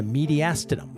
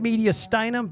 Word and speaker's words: mediastinum: hit me in the mediastinum last time I said media steum because that was an owed to one of my old teachers that just had to say it wrong so anyway so today